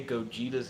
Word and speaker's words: Gogeta: Then Matt said, say Gogeta without a pause between the syllables and with emphasis on Jita.